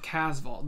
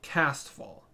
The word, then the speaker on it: Casval: There's no T, but then sometimes they'll say Castval or Casval.